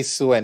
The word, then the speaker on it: Suen: So I'm going to say Suen. Is that okay? That is perfectly fine. Thank you. And you pronounced it correctly.